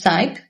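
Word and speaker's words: psyop: I think it's pronounced SYOP, P-S-Y-O-P, or SYOP.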